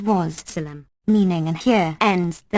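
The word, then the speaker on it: والسلام: Walsalam, pronounced Wassalam, meaning and here ends the matter.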